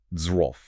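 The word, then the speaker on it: zwölf: beginner level, number 12, z. Just looking at the spelling is intimidating. Z W LF. You got the sharp Z, the W acting like a V, the OML, and then that LF cluster.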